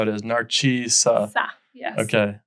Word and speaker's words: Narcisa: P, so that's perfectly acceptable, but you would pronounce it, Narcisa. Okay, Narcisa, that's how it is, Narcisa.